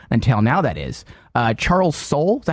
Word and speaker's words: Soule: Charles Soule, is that how you say his name?